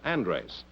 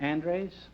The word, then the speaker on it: Andres: Oh, and you're Brad Andres? That's Is that right. the way you pronounce it? Andres, yes.